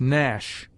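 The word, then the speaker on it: gnash: G is mute before N, as nash, sign, foreign.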